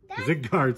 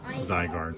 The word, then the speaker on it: Zygarde: behind it is ziggurat whoa that's a red zig guard sorry again my apologies with the pronunciation of some of these pokemon zygarde zygarde i think it is yes zygarde so that is a holo rare zygarde we'll